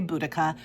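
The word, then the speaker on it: Boudicca: I don't know how you say this name, but I say Buudaca. Just just allow me to say Buudaca. I know there are other pronunciations, but I'm going to go with Buudaca.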